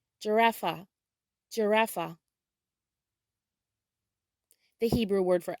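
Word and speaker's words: ג'ירפה: In Hebrew, giraffe is pronounced giraffa, giraffa.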